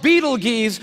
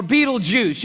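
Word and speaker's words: Betelgeuse: after I heard about this star it's called Beetle geese or Beetle Juice you can pick your pronunciation I'm obviously going with Beetle juu and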